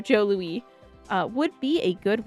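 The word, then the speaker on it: Jos Louis: If you ever in Canada, uh Joe Lewis, Joe Lewis, that made by a French company, so pronounced Oh, Joe Louie.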